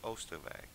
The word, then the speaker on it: Oisterwijk: schot die heet oirschot en je bedoelt oisterwijck precies en het spreek je uit als oisterwijk ja in nederlands wel ja en dit is een